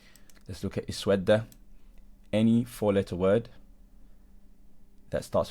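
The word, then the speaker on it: اسود: So sin, waw and dal, sawada. And the middle letter of the original word is waw, therefore we're going to pronounce this hamza with kasra.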